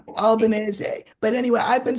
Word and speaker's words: Albanese: By the way, for my American viewers, this is how you say the guy's name. The new prime minister. It's uh, Albanese, right? Yes, it's an Italian name. It's yeah, but that's not how the Italians would say it, would it?